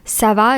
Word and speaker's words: ça va: Ça va is also spelled with the C in the beginning, but it's the C cedilla. So it's pronounced ça va.